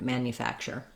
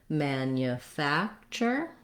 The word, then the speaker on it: manufacture: at a time slowly i think the challenge with this word is that this tu has the ch sound and this nu has the yu sound so there's a lot of hidden sounds in the word manufacture let's go slowly manufacture